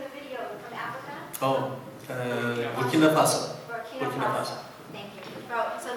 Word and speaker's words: Burkina Faso: Oh, Burkina Faso.